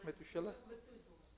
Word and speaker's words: Methuselah: - Shella how do you say the English Methuselah Methuselah 969 years yeah I was reading a